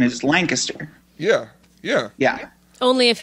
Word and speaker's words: Lancaster: yeah that's that's true yeah but the correct pronunciation is Lancaster yeah yeah yeah only if you're from there